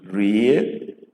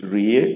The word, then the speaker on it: rie: Go to re, re as in rie, re as in rie, which means eat.